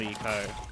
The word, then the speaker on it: ICO: Achievo, because I love Eco. One of my, like, favorite games, and I would love to get the achievement on it. Eco's a great game. It's spelled ICO, by the way, in case you're wondering, like, what?